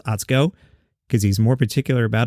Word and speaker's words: Atsuko: Atsuko is pronounced Atsuko, by the way, and her last name is pronounced Okatsuka, which is good because that's how I've been seeing it.